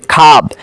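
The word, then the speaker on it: خواب: যেমন দেখুন এই যে খাব, এটার উচ্চারণ হয়েছে খাব, কিন্তু উচ্চারণ খাব হয়েছে ঠিকই, কিন্তু লেখার মধ্যে ওয়াও এসেছে। খেশ দেখুন লেখার মধ্যে ওয়াও এসেছে কিন্তু উচ্চারণের সময় ওয়াওয়ের উচ্চারণ হয় না, খেশ।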